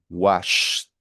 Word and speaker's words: washed: Entonces, como wash al final no vibra, cuando usted vaya a pronunciarlo en un verbo regular, me va a decir washed, washed, ¿vale? ¿Por qué? Porque el sh no vibra, entonces como no vibra, la ed se pronuncia como si fuese una T.